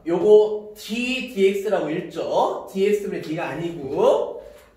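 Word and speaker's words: d/dx: 요 놈을, 자, 요거 d dx라고 읽죠.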